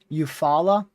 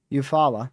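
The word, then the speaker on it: Eufaula: I'm going to look up the pronunciation for that. Let's see here. Eupfalla. Okay, that's easy. Eupfalla.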